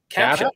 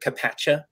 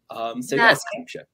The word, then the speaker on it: CAPTCHA: My buddy Cam, he's called it Capacha for many years.